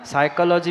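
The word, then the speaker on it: psychology: silent होते हैं ना साइकोलॉजी में पी साइलेंट होता है ऐसे गुटका का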